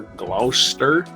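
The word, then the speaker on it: Gloucester: I think it's glower. G L O U C E S S T R Glouster. That sounds like a British pronunciation.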